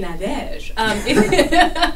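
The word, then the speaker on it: Nadège: I just assume people can say Nadege. it's N-A-D-E-G-E. Last name is. There's a little accent on the E of Nadege, but don't worry about that.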